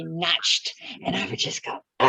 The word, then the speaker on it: Nacht: I would hear him say Nacht, and I would just go, But there are parts of Germany that pronounce the CH like English does.